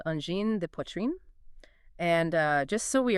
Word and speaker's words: Angine de Poitrine: And then, uh, de. Just a short, like, duh sound. Duh. And finally, poitrine. So you say pwah, rhyming with spa but with a red sound, and then trine at the end. Poitrine.